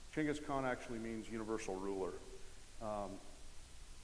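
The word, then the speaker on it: Chinggis Khan: named Changas Khan um You probably heard it pronounced gask Khan that's the westernized saying they don't like that over there so chenas Khan chenas Khan actually means Universal ruler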